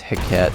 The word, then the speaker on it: Hecate: a cool rifle nonetheless i just noticed i mispronounced this it's hecat like baguette this is french it